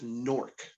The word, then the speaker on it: Newark: or ej newer newer newark newark new york right my wife yeah my wife says nork like n-o-r-k like fork with an n that's that like northern